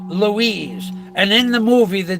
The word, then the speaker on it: Louise: Lewis is in charge Louise is a masculine name of Spanish origin pronounced Louise a Varian of Lewis and Luis the name means famous